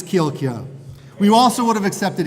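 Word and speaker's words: Kjielkje: What is the proper pronunciation for handmade egg noodles? Ichiban, Kilka, or Chilcha? Chilcha. Ooh. Wrong. It's Kilka.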